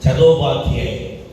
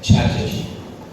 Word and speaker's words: Chattopadhyay: ചതോപാധ്യായ്. British people could not pronounce Chattopadhyay, so they said Chatterjee.